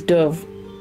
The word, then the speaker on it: Dubh: used um and yes his name is spelled d-u-b-h but he is Irish so it's Dove as in the bird let's watch this